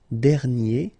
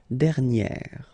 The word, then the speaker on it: dernière: And then second example, dernier. Okay, and you will get dernière.